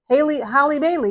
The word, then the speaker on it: Halle Bailey: Halle Bailey, yeah, that's how you pronounce it.